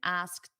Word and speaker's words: asked: Notice that pronunciation, asked. It ends in a very soft T.